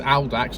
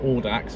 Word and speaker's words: Audax: of I know that the pronunciation for the Hillman mixes is Aldax, not Audax.